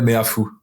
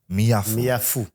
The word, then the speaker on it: Meafou: Do you just mind helping me how to pronounce his surname properly, please? Emmanuel Meafou. Meafou.